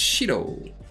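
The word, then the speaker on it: 白: think but the vocab reading is different it's shiro oh and they have some some really cool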